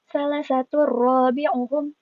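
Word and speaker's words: ثَلَاثَةٌ رَّابِعُهُمْ: Cara bacanya yaitu salah satu robi'uhum.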